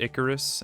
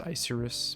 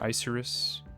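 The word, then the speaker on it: Icirrus: I just remember in my Black and White like retrospective video, I pronounced it Icarus, and I think there's a couple people in the comments calling me out on it. I guess it's pronounced Isurus, but I've always called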